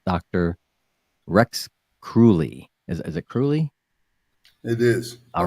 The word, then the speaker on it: Kruly: Is it Kruly? It is. All right. I pronounced it right.